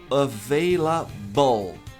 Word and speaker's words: available: Então veja, a pronúncia correta é available. Available. All. Olha o L.